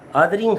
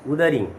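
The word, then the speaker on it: Wuthering: Her text Othering Heights, don't pronounce the word as Uthering.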